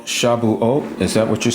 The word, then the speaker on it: Shabuat: Shabuot, but it's spelled Shabuat.